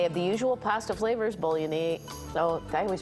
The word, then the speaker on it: Bolognese: And they have the usual pasta flavors, bolognese. Oh, I always pronounce it wrong.